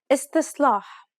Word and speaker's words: استصلاح: استصلاح استصلاح. The first S is pronounced dark despite what is written. استصلاح استصلاح.